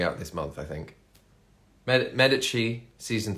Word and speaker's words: Medici: this month I think Medici season 3 or if you're if you don't know the Italian pronunciation Medici Medici probably call it um but yeah the